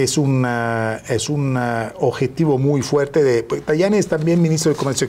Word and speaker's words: Tajani: Me llamó la atención, embajador, que Antonio Tajani, se pronuncia Tajani, bueno, ministro de Asuntos Exteriores, dijo cuando se